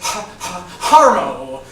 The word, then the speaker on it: Haro: couldn't figure it out it's pronounced with like a slight stutter But ultimately it's Haro Haroo what a beautiful